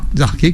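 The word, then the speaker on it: archée: le monde et les arqués qui ne sont connu de personne c'est très surprenant arqué comme son nom ne le dit pas à la radio ça s'écrit ah r C H e e et ça a été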